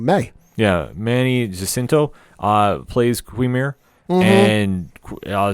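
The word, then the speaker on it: Qimir: Quimir. I think that's how you say it. Yep. Quimir, who we saw back in episode 2, I believe it was.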